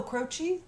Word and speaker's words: Croce: my gosh that's who how do you pronounce that last name oh crochet yeah okay sorry I've never